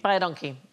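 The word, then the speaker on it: baie dankie: is you is welcome because it sounds like bod donkey but it's identical to the Africans phrase which means thank you very much so phonetically by aonkey by a donkey by a donkey yeah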